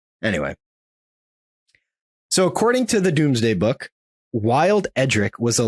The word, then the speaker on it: Domesday: But this story comes from, I believe it's pronounced the Doomsday Book, but it's like Domesday, but I think it's pronounced Doomsday. At least I think that's how Jared Kingsley pronounces it.